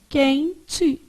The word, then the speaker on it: quente: Então olha aqui ó quente você fala assim ó quente esse U que tá aparecendo aqui é nulo que que a gente